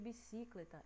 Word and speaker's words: bicicleta: A gente percebe a bicicleta, não é bicicletar e nem bicicleta, é bicicleta, né? Então a gente percebe que é a sílaba clé que está sendo mais demorada, é a que está sendo mais forte. E a sílaba clé, ó, contando, né, do final para o começo, olha, última, penúltima, antepenúltima. A sílaba clé é a penúltima.